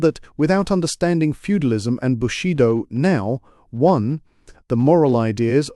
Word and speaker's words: bushido: without understanding feudalism and bushido now one, the moral ideas of present Japan are a sealed volume. Footnote one pronounced bu she doors.